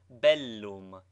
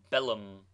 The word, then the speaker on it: bellum: PS BT like PT doubled consonants should both be sounded contrary to the custom of English thus Bellum is pronounced distinctly Bellum not Bellum nine exercise pronounce the